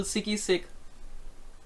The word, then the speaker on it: SigiSig: you can find me it's it's the real sicky-sick but with s III say it like a